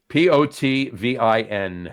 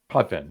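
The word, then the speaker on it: Potvin: It sounds like an A, but it's an I.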